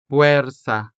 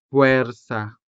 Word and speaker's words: fuerza: So, we say puerta for door. fuerza for force. la mesa to mean table. and papel to mean paper. As you can see, these words are spelled with the letter e, and this letter e is sounded with the vowel e sound.